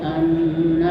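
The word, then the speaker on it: أنّ: Ya, anna itu ada nun bertasdid. Nah, itu hukum bacanya disebut gunnah. Gunnah itu artinya mendengung. Jadi harus dibaca dengung.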